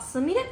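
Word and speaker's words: 純連: らしいけどなあすみれってそんなんだすみれも見とってなんかこれ元もいけるって書いてから純連って書いてすみれって読む読むらしいねやがあと次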